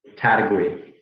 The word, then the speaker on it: Taitague: us for all time what is the correct pronunciation it is hard but um this is correct category there we go category all right in guam